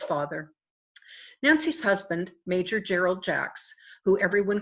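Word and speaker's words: Jaax: college Nancy and Jerry Jack's the name is pronounced jacks we're both members of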